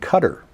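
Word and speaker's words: Qatar: in Saudi Arabia and cutter interesting yeah now cutter even though it's not spelled the same QA t a r they are essentially the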